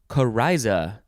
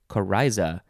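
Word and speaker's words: coryza: a name okay next word it is kariza c-o-r-y-z-a kariza noun from 1634.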